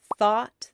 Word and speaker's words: thought: In the word thought, they make the aw sound.